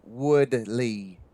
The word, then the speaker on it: Woolley: That's the name, Monty Woolley. Well, yeah, in Tennessee we pronounce it Woodley.